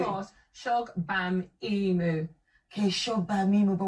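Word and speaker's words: Shogbamimu: Now read it phonetically. Mos. Shog Bam Imu.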